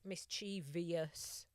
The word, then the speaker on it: mischievous: Another one that winds me up is mischievous. Oh. When they put an extra syllable in, mischievous.